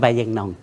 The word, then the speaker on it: Bayinnaung: If you pronounce it in Burmese, Bai Yeingnaung.